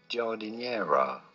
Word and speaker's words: giardiniera: to say it as jordinera it means the name means from the garden essentially in English gotta roll the r's yeah foreign foreign